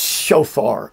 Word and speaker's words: shofar: i want to glance and be sure it's shofar s-h-o-p-h-a-r it's a rams horn an animal a